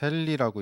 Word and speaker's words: 헨리: 이거는 이제 단위를 H라고 나타냅니다. 읽을 때는 헨리라고 읽고요. 이게 자기 인덕턴스의 단위입니다.